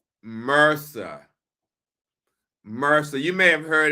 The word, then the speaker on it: MRSA: M RSA is pronounced mercer.